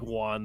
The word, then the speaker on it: Jhan: Yes, he spelled his first name Jhan. That's right. That's how it was. But it was pronounced like. I was looking for when he said Juan. I'm like, J-U. He pronounced it like Juan, though.